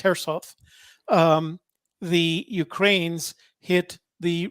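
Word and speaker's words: Kherson: the russians surround herself it looks like k-e-k-h-e-r it's pronounced herself um the ukraines hit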